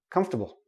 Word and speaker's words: comfortable: the or we say Kumpf tah boom and notice the last sound it's like a small tiny tiny little I in there comfortable come stop bull comfortable okay we don't pronounce the or comfortable nope don't do